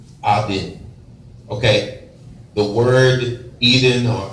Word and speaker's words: Eden: our original state, okay, was Eden, very more properly pronounced Aden.